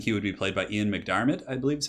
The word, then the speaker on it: McDiarmid: I think he would be played by Ian McDiarmid, I believe is how you say his name.